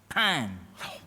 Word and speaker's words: pain: Bread, Donnie, is spelled pain. P A I N. But Leslie, it's pronounced pan.